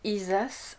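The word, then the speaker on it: Isaz: Alors, Isa ça va se prononcer Isas en proto-germanique, donc qui est évidemment la langue reliée aux runes.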